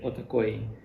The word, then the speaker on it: OTAKOYI: could you repeat uh in Ukrainian we say otakoi yeah could you repeat yes okay almost there